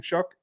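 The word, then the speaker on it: Shough: guys in, how do you say his name, Shuck? Yeah, Tyler Shuck, yeah.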